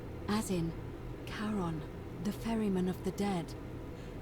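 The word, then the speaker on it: Charon: The name you heard wasn't Karen. It was C H A R O N. As in Karon, the fairyman of the dead. Karon, who in exchange for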